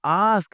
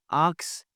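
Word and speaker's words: ask: आस्क बोलना जी, आस्क, आक्स, आक्स। के की आवाज पहले नहीं आती, एंड पे आती है, आस्क।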